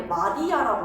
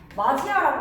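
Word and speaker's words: 맏이: 마디아라고 발음하지 않잖아. 그렇지? 마디아라고 발음하지 않지. 마지아라고 말할 때 마지아 디귿이 이모음 만나게 되면서 지으로 바뀌어 가지고 마지아 이렇게 말하면 되는 거야.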